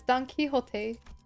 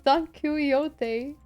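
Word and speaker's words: Don Quixote: like but that's not that's not how you pronounce the name it's donot I don't know I don't know thought I was Don kote sh this is odd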